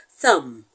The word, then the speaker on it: thumb: example is the word thumb thumb t h u m b the b in thumb is silent so there is no